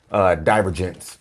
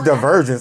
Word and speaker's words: DiverGents: She had to really tell me how to say it because I was like, DiverGents. And she was like, it's DiverGents. I was like, I figured it because, like you said, diverse, and then I said gentlemen.